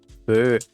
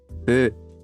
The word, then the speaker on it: phở: Phở. Hò phán à? Feu. Phở. It's actually Vietnamese. Oh, there is. How do you pronounce that?